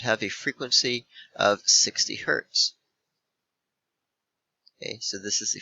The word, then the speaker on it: Hz: a frequency of 60 Hertz okay so this is the frequency remember HZ is pronounced hertz okay it's named after